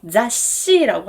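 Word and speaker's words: 雑誌: 잡지는 자시라고 하죠. 자시. 총 몇 개의 문자로 되어 있죠? 3개입니다. 그래서 3박으로 발음하는 것이 정확한 발음입니다.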